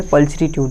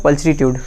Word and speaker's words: pulchritude: अपना अगला वर्ड है पल्चरीट्यूड। और अपना अगला वर्ड क्या है? पल्चरीट्यूड। इसकी स्पेलिंग क्या है PULCHRITUDE, स्पेलिंग क्या है PULCHRITUDE।